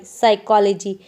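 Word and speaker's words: psychology: जब भी पी के साथ एस लेटर आता है तो पी साइलेंट हो जाती है। For example PSEUDO pseudo, PSCHOLOGY साइकोलॉजी।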